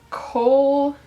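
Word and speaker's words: kohl: can't pronounce the name I think it's coal k-o-h-l and then k-a-j-a-l sorry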